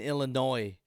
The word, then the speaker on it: Illinois: me see let me see is silent in Illinois Alex okay so Chicago